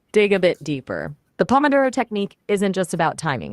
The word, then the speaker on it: pomodoro: The emphasis is on the do syllable.